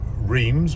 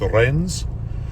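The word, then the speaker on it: Reims: to a place that I know as Reams, but I've been told it's pronounced Loren um in the Champagne region.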